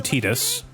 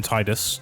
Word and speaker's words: Tidus: And then up here, your pronunciation may vary. But up here is I call him Tidus. Some people call him Tidus.